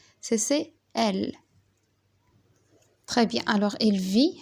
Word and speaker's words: vit: Alors il vit, le T c'est muet. On l'écrit mais on le prononce pas.